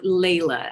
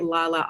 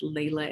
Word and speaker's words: Lalah: And my name is pronounced Lalah. I get Lalah all the time, but it is Lalah.